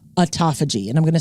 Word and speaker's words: autophagy: Japanese scientist for the discovery of something called autophagy. And I'm going to spell that for you so that you know what that word is.